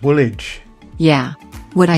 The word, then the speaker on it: Woolwich: yeah good point you pronounced a hi a little weirdly seven be still my Beating Heart number seven it's funky old witch it's pronounced Woolwich yeah what I said